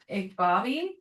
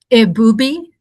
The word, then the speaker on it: Ibubi: And we have with us today, we have a representative for we're gonna jump to number 2, Igbabi College. Did I pronounce that correctly? It's Ibubi College.